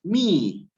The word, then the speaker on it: mihi: No es mihi, sino es mi. Entonces, otra vez, me separo este bloque de palabras y las pronuncio con la H muda.